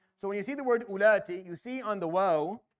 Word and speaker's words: أُولَاتِ: So the wow there, because for our recitation for Hafs and Asim and Tariq al-Shatibi, we don't pronounce it. We say وَإِن كُنَّ أُولَاتِ. Ulati. We don't say ulati. We don't give a wow.